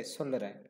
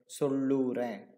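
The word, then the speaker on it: சொல்றேன்: People say solren. People don't say solluren. Instead they say solren. You can see that just shortened.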